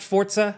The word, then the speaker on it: Forza: Also, can I just say, it's pronounced Forza. I always see in comments people say, I hate that the way Jake is saying it. That's how it's said.